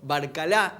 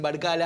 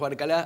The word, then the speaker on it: Barcalá: nuestro lado a Roberto Barcalá, es el apellido correcto, como se pronuncia, le dicen Barcala a algunos, pero nosotros sabemos que es Barcalá, así que así lo vamos a llamar.